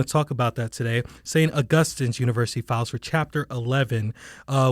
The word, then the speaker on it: St. Augustine's University: a lot over the years including how to pronounce it. St. Augustine's University is what I've been told by all of the very dedicated alum that I've talked to over the years. Well, St. Augustine's University, let me get that right as well.